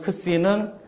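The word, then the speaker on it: ξι: 거고 그 뒤에 있는 크시는 그 크 발음과 스 발음이 합쳐지는 거죠 크시 그다음에 그다음 옆에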